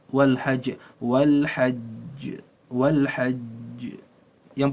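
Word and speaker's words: والحج: itu linnasi Wal Hajj jadi cara membacanya ditahan sedikit bukan Wal Hajj Wal Hajj Wal Hajj Wal Hajj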